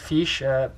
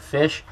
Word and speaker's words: fiche: should have a part fiche or a part fiche. Some people pronounce them. I've even heard people pronounce them as part fish.